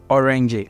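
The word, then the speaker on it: öğrenci: this G then next you're not going to pronounce the G you're going to prolong the vowel after that g so an example is there is a word called orange orangey that is student so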